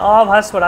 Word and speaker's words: অভাস্বরা: অভাস্বরা, আসলে উচ্চারণটাকে হচ্ছে অভাস্বরা।